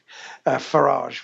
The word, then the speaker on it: Farage: I think she rapidly linked him with Adolf Farage, rhymes with garage, with certain Adolf members of the Hitler.